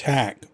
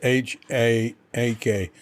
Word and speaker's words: Haak: of Life with Jonathan Haak. Or maybe it's Haak. Well, Haak sounds more British, and that's the way they pronounce A's here. But there's 2 A's. It's H-A-A-K. So here they'd pronounce it Haak.